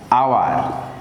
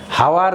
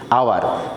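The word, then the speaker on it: hour: এই জন্য আমরা বলবো অ্যান অনেস্ট, অ্যান আওয়ার। খেয়াল করে দেখো, হাওয়ার কিন্তু না, এইচ ও ইউআর, এটা কিন্তু উচ্চারণটা হাওয়ার না করি না, আমরা করি কি আওয়ার, এই জন্য অ্যান যুক্ত হলো।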